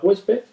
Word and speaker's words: huésped: La palabra huésped es una palabra llana, lleva la sílaba tónica en hues, acaba en D, por lo tanto, como es una consonante que no es ni N ni S, se acentuaría. Y se acentúa en la vocal abierta.